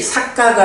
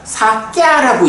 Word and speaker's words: 사꺄: 우리 뭐였죠 그런데 여기서는 발음이 삭가가 아니라 사꺄라고 읽죠 아까 사 야 이렇게